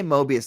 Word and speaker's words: Moebius: No, was, look, you don't have to say it like a French guy. You can just say Mobius like everybody else, okay?